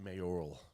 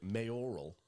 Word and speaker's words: mayoral: No, not mayoral. Come on. I just said it right. No. Mayoral. You added an extra I in there. Well, it is. Okay. It's spelled R E I. R I A L.